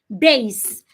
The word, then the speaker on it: base: word base not B the S does not change to a zed base like the word basic